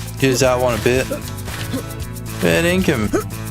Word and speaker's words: fair dinkum: Fair dinkum.